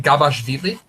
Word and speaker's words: Gabashvili: Gabashvili.